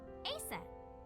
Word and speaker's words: Aset: Horus's mom is named Isis, but in ancient Egyptian, it's pronounced closer to Ise or Aset.